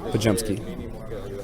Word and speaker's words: Podziemski: How do you pronounce it? Podziemski. I came close. Yep. Podziemski, chip on the shoulder for sure.